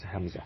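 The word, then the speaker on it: همزة: be easy for you just call it hamza if you see alif and above it is hamza is called just pronounce it as hamza so what is this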